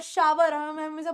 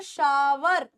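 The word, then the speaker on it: shower: Sahana take a bath या शार या ववर बोलते हैं शवर ववर गलत हो जाएगा हम लेते हैं शार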